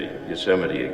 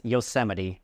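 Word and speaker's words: Yosemite: I'm going to take him to Yuseite again. Like last summer. Planning a family vacation? Remember that it's Yoseite, not Yoseite.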